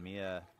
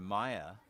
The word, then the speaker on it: Maya: And Mia will step in. Correction, Maya, proper pronunciation there, with 2 outs.